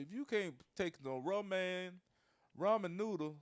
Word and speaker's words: ramen: can't make no romaine noodle, goddammit, you Rom- ain't worth a shit.